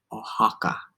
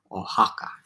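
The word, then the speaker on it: Oaxaca: going to clarify pronunciation the city o-a-x-a-c-a ohaka ohaka all difficult all right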